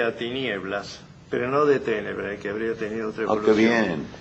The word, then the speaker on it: tenebrae: Y la encuentra en Catulo, tenebrae. Por la métrica usted ve que ahí contó esa sílaba como larga, con lo que equivaldría hoy a decir tenebrae, no tenebrae.